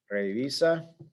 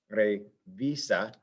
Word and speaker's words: revisa: Revisa, right here, that syllable is stressed, the second to last syllable, revisa.